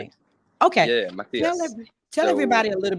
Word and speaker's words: Matias: How Yeah, do you it was pronounce your name? perfect. Okay. Yeah, Tell Matias.